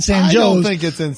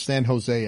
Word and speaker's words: San Jose: illinois i know it's san jose everywhere else but illinois they pronounce it sanjos yes uh so they